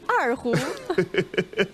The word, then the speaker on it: erhu: Je crois que j'ai bien prononcé l'erhu. Oui, erhu.